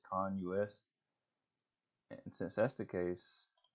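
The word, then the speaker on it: CONUS: then you don't use to the concentration but I really think this is con Lluis based on this right here I think it stands for continental US so I think the proper way to say this is con us and since that's the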